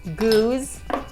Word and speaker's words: Geuze: Geuze, Geuze.